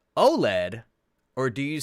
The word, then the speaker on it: OLED: what do you say oled or o led do you spell it out or do you say it like a word because i say it